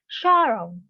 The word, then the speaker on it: sorrow: Và nó mang một cái dạng là danh từ và nó sẽ nhấn ở âm thứ nhất, đúng rồi, nó sẽ stress on the first syllable.